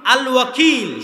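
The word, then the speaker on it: الوكيل: আল ওয়াকিল। শুদ্ধ উচ্চারণ।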